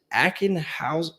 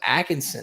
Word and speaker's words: Ackenhausen: How do you, is it Ackenhausen? I think you got it. I Yeah. thought it was Atkinson at first, but then you get a double take and you're like, shit. wow, it's Ackenhausen. 4 syllables.